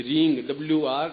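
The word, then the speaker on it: ह्रीं: इसमें मूल बिंदु रींग बीज है, ये अपना पे महत्वपूर्ण है, रींग WREENG, वो रींग, क्लियर।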